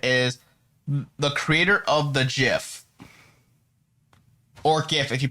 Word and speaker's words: GIF: the creator of the gif or gif if you pronounce it that way but they technically say that it's supposed to be pronounced jiff so i'm we're i'm